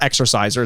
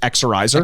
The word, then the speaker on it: Exorizer: It's not Exorciser. It's just Exorizer.